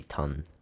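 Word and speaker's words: tanh: how would you say ton I always say I always just say ton because the age is silent or hyperbolic tangent like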